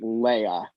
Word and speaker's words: Leah: girl named leah strigler who pronounced it leia and so that's the template against which i've i've